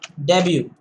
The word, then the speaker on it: debut: Debut. So T is silent here.